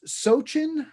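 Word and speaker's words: sochan: i recognized the flower the name that james gave me was sochin i i think it's s-o-c-h-a-n now i may be pronouncing it incorrectly but it's also known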